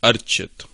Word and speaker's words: Archit: So, I mean, I guess at this point, even when I say it myself, I anglicize it a bit, but the way I would pronounce it is Archit.